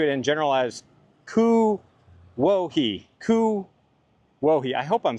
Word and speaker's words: Kuwohi: Kuwohi? Kuwohi is how I think it's supposed to be pronounced, which means mulberry place.